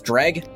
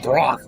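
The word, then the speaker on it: Dreugh: Apparently the correct way to say it is dreg. I mean, presumably, but calling it a drach is really funny, don't you think?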